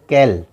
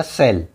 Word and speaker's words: cell: Normally सी की आवाज़ होती है क, तो कैल, लेकिन ये कैल नहीं पढ़ा जाएगा, ये पढ़ा जाएगा सेल।